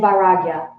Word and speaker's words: vairagya: those words, abhyasa and vairagya, because they'll come up a lot, especially in this next chapter. Can you say that again, Vairagya, so you don't pronounce that I? It's vairagya. Vairagya. Yeah. A-I. Yeah.